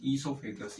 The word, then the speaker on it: oesophagus: और इंग्लिश के अंदर इसको बोलते हैं ईसोफेगस। ईसोफेगस की स्पेलिंग होती है OESOPHAGUS, ईसोफेगस बोलते हैं इसको, ठीक है ना। ओ साइलेंट है इसके अंदर, ठीक है।